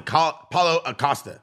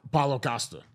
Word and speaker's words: Paulo Costa: Paulo Acosta. Paulo Costa. Paulo Acosta. Paulo Costa. I said Paulo it right. Acosta. Is there an A before the? I think it's just Paulo Costa.